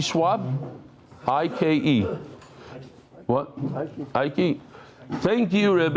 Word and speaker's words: Ike: How do you pronounce this? Ike Schwab? I-K-E.